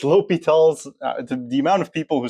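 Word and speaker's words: L'Hôpital: Uh it's pronounced LLS, not L hospital. Don't be a math degenerate and pronounce things reared on purpose. It's remon, not Ryman. It's Oiler, not Uler. And it's it's Li Talls.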